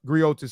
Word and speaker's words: griot: anyway let's get into the gri and gri griot segment like what is uh what is a